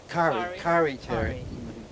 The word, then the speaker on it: Kari Tari: I always have to make sure I pronounce that correctly. Kari Tari, right? Or is Kari? Kari Tari.